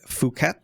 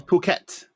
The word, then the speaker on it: Phuket: to pronounce it properly I've always said fuk but I don't know is okay well puket yeah looks it looks like it but it's puket so calling puket um